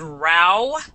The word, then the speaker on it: row: But if we can also pronounce this word row, a row, and that means a fight.